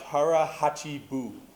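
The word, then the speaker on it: hara hachi bu: to say this out loud all right it's pronounced Hara Hai Buu all right all right one two three harachi bu the translation eat until you're 80% full that's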